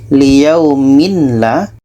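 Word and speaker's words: لِيَوْمٍ لَا: Jadi bunyi tanwin ini kita masukkan ke la. Yang asal bacanya adalah liyaumin la. Liyaumin la. Menjadi liyaumillah. Liyaumillah. Tanwin masuk ke lam.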